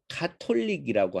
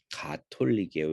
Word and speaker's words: 가톨릭: 첫 번째 얘기는 뭐냐면 가톨릭인데 여러분 많이 사람들이 틀리게 얘기하는 건 뭐냐면 카톨릭이라고 하면 다릅니다. 공식 방식은 뭐냐면 가톨릭이에요.